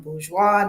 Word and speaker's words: Bourgeois: We're talking with Bourgeois.